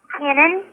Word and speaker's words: Kenan: It's actually he goes by Ken, but it's Kenan.